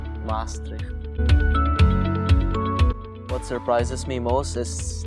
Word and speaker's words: Maastricht: In the beginning, it was really hard to pronounce Geven, Maastricht. Maastricht. Yeah, they have to put the double A, Maastricht.